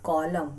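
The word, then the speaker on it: column: delta option is correct so लेट me tell you कि कॉलम में जो n है वो कंप्लीट साइलेंट होता है right the spelling is सीओ एल यू एम N right तो आप देख सकते हैं कि कॉलम में when we are pronounce it there is no sound of एन my friends you know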